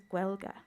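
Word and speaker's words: Gaeilge: is uh the word is Gua it is not gaic it is guela um I also just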